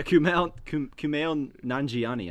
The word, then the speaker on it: Kumail Nanjiani: Kumail Nanjiani. Is that how you say it? No. Kumail. Yeah, Kumail Nanjiani, I believe. Yeah, that's right.